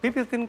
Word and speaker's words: Pipiltin: Pipiltin cocoa is okay.